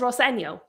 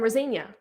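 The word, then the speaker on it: Rosenior: And he says, "Well, my dad says Roseno." And now everybody's calling him Rosena. And I'm like, "It's not even close.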